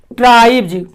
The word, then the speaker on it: tribes: जैसे आप देखिए ट्राइब्स, TRIBES, इसका उच्चारण होता है ट्राइब्स।